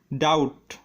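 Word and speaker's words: doubt: Rule number 8, শব্দের মধ্যে যদি বিটি থাকে তবে বি এর উচ্চারণ হয় না। যেমন ডেট, ডাউট, স্যাটেল, এখানে বিটি পাশাপাশি আছে তাই বি এর উচ্চারণ হয়নি। ডেপ্ট অর্থ ঋণ, ডাউট অর্থ সন্দেহ, স্যাটেল অর্থ সূক্ষ্ম।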